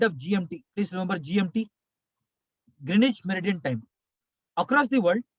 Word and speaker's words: Greenwich: is gmt greenwich meridian greenwich merit in time that's the normal pronunciation but i told yesterday w silent greenwich meridian time from greenwich notice that